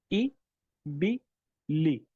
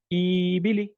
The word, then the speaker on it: إبلي: إبلي. All three of them are kasras and all of them should be short. If someone says ibili, that's not correct. Or if someone says ibili, that's also wrong.